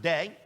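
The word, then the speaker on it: δεῖ: Now, the Greek word that is translated there, for you're careful to tithe, that word is a Greek word, small Greek word, D-E-A. We would pronounce it day.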